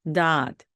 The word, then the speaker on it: dot: 다트 하지 마시고 dot, dot 리듬을 살려서 해 주시면 정말로 좋겠습니다.